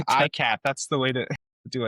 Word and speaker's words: ICAHT: just for the audience, if you want to pronounce it correctly, imagine a cat holding an iPhone, that's the ICAHT.